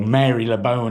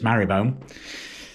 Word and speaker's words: Marylebone: I've got on my app saying, "Go to Marylebone Station," or Marylebone as it's spelt, but apparently it's Marylebone. So, apparently they don't pronounce it that way.